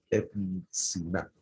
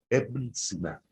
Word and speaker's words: Ibn Sina: Este personaje persa se llamaba Ibn Sina, conocido en Occidente como Avicenna. Ibn Sina. Iglae, ¿lo entendiste, Iglae? Se escribe I-B-N, Sina.